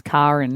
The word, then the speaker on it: Karin: How often do you have to explain to people that it's spelled? It sounds Karen, not every single time I say it.